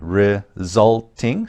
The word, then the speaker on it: resulting: again here's the pronunciation resulting second syllable stress this one is one